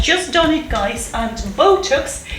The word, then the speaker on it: Botox: done it guys and botox is transcribed with a oh diff tongue and this pot sound at the end whilst buttocks is transcribed